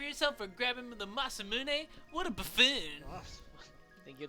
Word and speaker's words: Masamune: either they're awful so it is masamune I called it the masam moon for years I had no idea